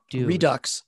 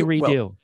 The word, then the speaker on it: Redux: excited about orbital redo redux redux i like to say redo well because you're because you're pronouncing it correctly brian you should know better than to pronounce it correctly i oh man i